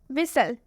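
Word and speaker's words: whistle: मतलब होता है सुनामी विसल विसल में आप देख सकते हैं लास्ट में टी एल ई आया है देख सकते हैं आप लास्ट में टीई एन नहीं है टी सी एच भी नहीं है लास्ट में टी एल ई है लेकिन इसमें भी टी साइलेंट है क्यों साइलेंट है क्योंकि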